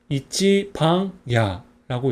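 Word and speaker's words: 壱番屋: 한자가 조금 뭐 생소한데 이거는 찌라고 읽어요 그리고 한 일이라는 환자입니다 그다음에 이거는 차례 번 반이 한자는 집 옥입니다 그 하고 있습니다 그래서 이찌방 야라고 있습니다 그래서 어 우리가 알고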